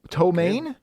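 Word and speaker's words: ptomaine: no it's another word for food poisoning oh tomane it is spelled p-t-o-m-a-i-n-e that's the name of that actress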